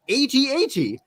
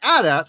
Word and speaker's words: AT-AT: officially stands for alterrain assault transport and it's pronounced at8 but Adat has been recognized as in Universe slang for